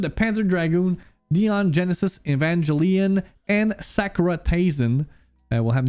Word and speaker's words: Evangelion: Pour ton info, c'est un Hard G dans Evangelion.